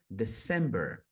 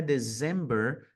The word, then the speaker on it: December: e dezembro vai ser December December percebem que não é dezember né a gente não tem o som de z aqui como em português dezembro aqui vai ser o som de s December December Ah o